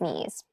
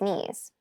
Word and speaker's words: knees: keep in mind yes this word begins with a K in spelling but the pronunciation is me the boy fell and scraped his knees the boy fell and scraped his knees the boy fell and